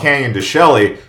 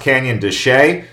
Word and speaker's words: Canyon de Chelly: canyon de chelly it sounds like it's called canyon de chelly but it's actually pronounced canyon de chelly this place is basically the epicenter of the